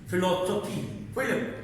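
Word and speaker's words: philosophy: फिर आप कहते हैं फिलोसफी, फिलिपाइन, इनमें स्पेलिंग में पी एच आता है लेकिन साउंड उसकी एफ वाली है, तब भी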